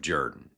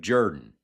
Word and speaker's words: Jordan: Ralph Jr.'s own study revealed that his family's pronunciation of Jordan goes back many generations, with a number of headstones even spelling the name more phonetically. And it appears the pronunciation dates all the way back to a Welsh pronunciation of the word, and the desire of